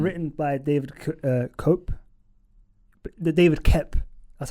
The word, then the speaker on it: Koepp: David Koepp, that's how it's pronounced.